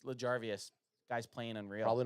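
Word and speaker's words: L'Jarius: mile EJ Savage says L jarvus Sneed it's larvas guy's playing unreal probably not spelled right but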